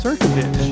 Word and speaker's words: Crnkovich: Crnkovich. Did I pronounce that right?